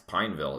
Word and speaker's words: Pineville: anywhere other than fernfield its Pineville its two syllables and it also has